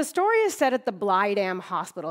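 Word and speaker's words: Blegdam: And the story is set at the Blydam Hospital. It's actually pronounced Blydam in Danish.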